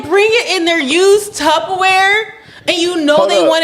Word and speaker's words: Tupperware: LIKE FLUBBER. LIKE TUBBER. YES. That's how you spell it. But you pronounce it tupperware.